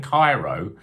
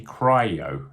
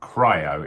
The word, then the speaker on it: Cryo: think i've been saying cairo but it's actually cryo as in cryogenic not cairo so i i apologize